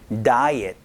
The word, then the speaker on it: diet: 일단 다이어트라는 발음보다는요. diet 이렇게 발음되니까 이것 좀 주의해 주시면서 연습 한번 해보도록 하죠.